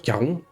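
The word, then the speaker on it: Charon: Vous Caron, vous m'excuserez de la prononciation à la française. Je ne parle pas le grec ancien. Je crois que c'était plutôt un espèce de de cas aspiré, voir pas prononcé, mais peu importe.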